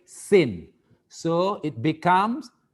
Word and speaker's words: sen: But the pronunciation in Malay, sin.